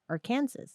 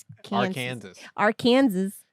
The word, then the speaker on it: Arkansas: on some tracks in Arkansas Arkansas Arkansas I mean don't spell it as Arkansas our Kansas come on don't do that don't do that we already have a Kansas you know yeah anyways